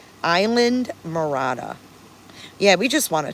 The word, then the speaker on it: Isla Morada: little quaint key called Isla Morada. Island Morada. Yeah, we just want to chill. No, it's not warm. It's 15 This is 59°. I'm You're saying it right, but it is Isla Isley? Isla?